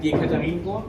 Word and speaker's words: Yekaterinburg: I like Yekaterinburg, is that how you say it?